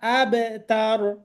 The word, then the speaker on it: الأبتر: আবু আবু বলে, আবার আবু তার কিভাবে পড়ে আসলে উচ্চারণ করা আমার কঠিন। তাহলে এখানে আবু তার হবে না, আবে তার আবে أبتر ইন্না শানিআকা হুয়াল আবতার إن شانئك هو الأبتر আবতার, তাই না?